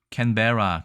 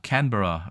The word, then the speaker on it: 캔버라: 또 찾아보면 발음이 캔베라, 캔버라 여러 발음이 있는데 어쨌든 호주의 수도는 시드니가 아니라 캔베라 혹은 캔버라입니다.